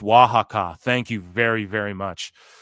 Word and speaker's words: Oaxaca: It's pronounced Oaxaca.